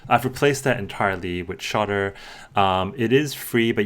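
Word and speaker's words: Shottr: app that I cannot live without is called shter so it is a screenshot app it's spelled s h o TTR um the the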